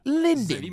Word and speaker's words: Lindy: oh I didn't say my name's Lindy like the chocolate call me Linden if